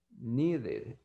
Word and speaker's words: needed: el verbo es regular, pero la pronunciación va a ser needed. Entonces yo voy a decir needed.